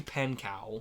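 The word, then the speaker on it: Pankow: Um, so my pick for W-Ally West is um Rudy Pankcow and is how you say his last name.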